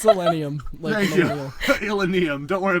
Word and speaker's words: Illenium: I don't know how to pronounce it. It's Illenium.